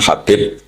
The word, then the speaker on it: Habib: Ada yang nulis Abi Abdurrahman Habib Asulami. itu di harakatnya kitab itu ada yang nulis subbab yang benar. Oh, nggih. Yang benar itu bacanya habib.